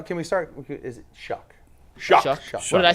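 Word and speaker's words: Shough: can we go can we start is it shuck shuck sh I say you said sh sh it's going to make me pronounce with an S shuck shu you're shucking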